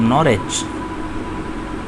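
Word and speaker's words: Norwich: Okay जी, ऐसे पढ़ लें, W साइलेंट कर सकते हैं, आहिस्ता आहिस्ता प्रोनाउंसिएशन का भी lead. Julian of नॉरिच, right pronunciation, तो ये मोस्ट करेक्ट प्रोनाउंसिएशन नॉरिच।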